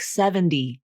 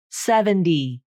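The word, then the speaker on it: seventy: Native speakers may also use the flap in a word like 70, 70, D, D. That T usually becomes a flap, not a true T.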